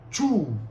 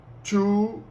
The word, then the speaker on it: two: 2 em inglês porque algumas pessoas falam tio mas não é two oque significa mastigar vais